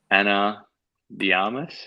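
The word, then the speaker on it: Ana de Armas: I'd probably say Anna de Armas.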